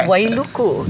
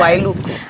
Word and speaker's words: Wailuku: and I want to ask you the correct pronunciation. Is it Wailuku? You got it. Yeah. Okay. Wailuku. Yes. Wailuku.